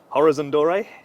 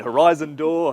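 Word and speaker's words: Horizon Doré: come to you first the pronunciation horiz Andor yeah okay it's been horiz if you want to really French but not that good um it's been Horizon door Horizon door race since been here so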